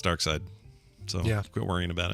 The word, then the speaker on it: Darkseid: found multiple sources that confirmed Jack Kirby himself pronounced it dark side he says it is a German Germanic pronunciation of the of the villain's name out there that pronounce